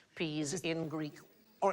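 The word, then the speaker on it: psi: They would For example, the letter P-S-I, all right, Sigh. that is the single letter there, and we pronounce it sigh, but in Greek, that sound is more like the P-S that we have in laps, so it's ps.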